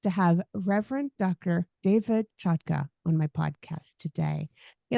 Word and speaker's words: Chotka: go by that sure you pronounced my name correctly so kudos to you it's a Ukrainian name now everybody in America